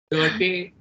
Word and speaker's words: Goethe: Goethe को कोते कह सकते हो, Hölderlin को Holderlin कह सकते हो, चलेगा. But I'm like actually learning German, so Germans do pronounce him as Goethe.